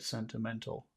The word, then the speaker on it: sentimental: most important word in that phrase he get sentimental sentimental okay and which syllable has all of the Power which syllable